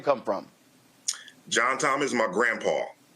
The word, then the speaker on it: John Tom: John Tom is my grandpa. It's his first and middle name, and it's what his family affectionately called him. They were Southern from Mississippi, so they pronounced it Joan Tone.